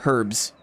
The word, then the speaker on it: herbs: third party is high we normally pronounce the h herbs herbs that guy's going